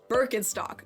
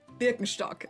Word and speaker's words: Birkenstock: brand I'm talking about is Birkenstock or in German Birkenstock which for me growing